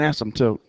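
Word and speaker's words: asymptote: how you pronounce it the p is silent um it's an ASM toote it's an asmt tote so anyway um again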